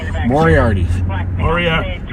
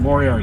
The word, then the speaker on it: Moriarty: I think you got to have the accent on the right syllable. Moriarty.